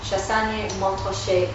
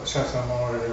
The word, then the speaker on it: Chassagne-Montrachet: I wanted to ask whether one actually pronounces the T in Montrachet. I said, yes you do, but very quietly.